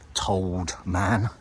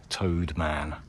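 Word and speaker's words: T'owd Man: Although I think I pronounced it Told Man. Apparently it's pronounced more like Toad. Toad Man.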